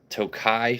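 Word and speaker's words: Tokaji: What I got the Tokai finish, it's spelled like Takaji, but the Tokai finish I got for what, around $100.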